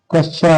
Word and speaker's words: कच्छा: कच्छा शब्द का शुद्ध उच्चारण कच्छा है।